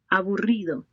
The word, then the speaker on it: aburrido: So the key would be to make that vibration sound, especially while pronouncing the RR sound, right, when it appears in the word.